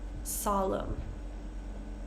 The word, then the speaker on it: solemn: The common pattern here is we have words ending in M-N. So this is our common pattern here for this silent N. We're just going to pronounce the M sound.